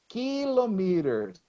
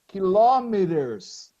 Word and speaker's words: kilometer: never heard anyone saying kilometers. The stress is never at the last syllable. It's in American English, the second, kilometer, or British English, kilometer.